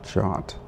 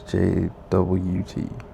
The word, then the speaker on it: JWT: I heard JWT pronounced as Jot but I pronounced as JWT who pronounces as Jot.